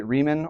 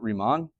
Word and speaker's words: Riemann: Uh you might hear other people say Reman or Ryman. Um I pronounce it Remon.